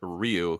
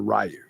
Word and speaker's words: Ryu: it's like oh no Ryu is a name so like I am pronouncing wrong if I call Ryu and and Street Fighter rayu so and James is